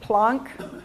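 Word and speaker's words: Planck: Plunk. P L A N K. And it's it's from Max Plunk, the German guy that discovered them. So, it's it's pronounced plonc, but it's spelled like plank.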